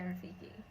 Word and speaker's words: Rafiki: Yeah, Rafiki.